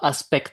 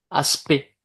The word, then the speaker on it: aspect: Puisque tout à l'heure au début du cours vous parliez de quelques doutes de prononciation, vous prononcez aspect comme si c'était un e. Ce n'est pas aspect hein, aspect comme si c'était juste un e à la